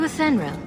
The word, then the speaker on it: Athenril: Are you Athenril? There we go. That's how you pronounce it.